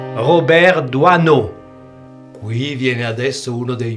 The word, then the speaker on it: Doisneau: Robert Doiseneau, che poi ho scoperto che in Francia la pronuncia corretta è Doiseneau, non Doiseneau.